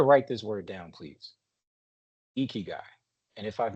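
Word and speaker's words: ikigai: this word down please eeky guy and if I've mispronounced it for anyone on the call please forgive me I'm trying my best but if you can say like it's I Ki G AI something to live for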